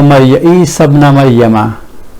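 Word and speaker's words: عيسى ابن مريم: This Hamza, when something comes, a word comes before that, this Hamza will be dropped in pronunciation just the way Hamza of Lam of definiteness is dropped.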